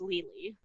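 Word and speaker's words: Lili: l-i-l-i um pretty much if you spell it l-i-l-i in every culture about western culture pretty much it's gonna be pronounced legally oh yeah well i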